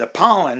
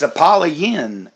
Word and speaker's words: Apollyon: Like I read this, tell you the description of the story, and I was calling it Apollon, and it's Apollyon, like Apollyon, like Lynn.